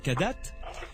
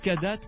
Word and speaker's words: Kadath: Vous êtes membre du comité de rédaction de la revue belge Kadat. Ça s'écrit K-A-D-A-T-H.